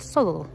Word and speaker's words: Southwell: it's pronounced bista um a local one to us is southwell but it's not pronounced South well it's pronounced soul um or Leominster is